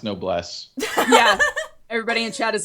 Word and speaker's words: Noblesse: what I was figuring if it's French it's no Bless yeah that's what I